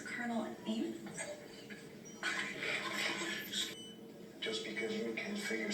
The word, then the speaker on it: Janus: Of course, Colonel Janus. You know, you're mispronouncing that. He's Portuguese, the J's silent. So it's Colonel Aim?